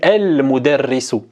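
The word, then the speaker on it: المدرس: Le mime, c'est une lettre lunaire, donc on va prononcer le lem et on dit El-Mudarrisu.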